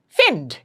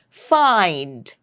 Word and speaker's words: find: If you were to strictly go by the spelling of this word, then the pronunciation should have should have been finn. F I N defend. But do we pronounce it that way? No, we pronounce it as find as if the spelling is f a i n d.